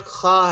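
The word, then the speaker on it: خ: After that खा है, के एच जो इंग्लिश में आवाज देता है खा की, वही खा है।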